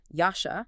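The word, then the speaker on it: ישע: Yasha. Yasha. And it is spelled with three letters.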